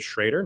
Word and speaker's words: Schroeder: I actually pronounce it shredder, not shredded.